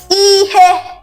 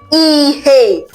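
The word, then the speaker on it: ihe: Ehe something. E something. Give me my thing. That thing. Something. Whenever you're referring to something, it is called what? Ehe. You can also pronounce this word as eheay.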